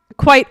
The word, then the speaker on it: quite: So, but quite quite also has one syllable.